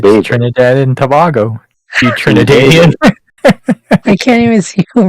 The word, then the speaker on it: Trinidadian: You Trinidadian.